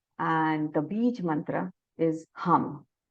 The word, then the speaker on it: hum: The color is blue, and the Bij mantra is hum. We will pronounce it H-U-M.